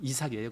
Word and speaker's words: 이삭: 미국 발음으로 아이작. 근데 우리는 이삭이에요.